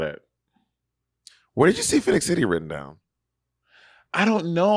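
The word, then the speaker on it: Phenix City: Also, there were like when I lived in Phoenix City, I lived in a white neighborhood.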